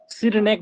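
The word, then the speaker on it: Cyrenaics: एक सिरनेक है, सिरनेक, हिंदी में ऐसे लिखा है सिरनेक, स्पेलिंग इंग्लिश में CYRNENAICS, CYRNENA, नैना, CYRNENAICS, सिरनेक बोलते हैं उसको।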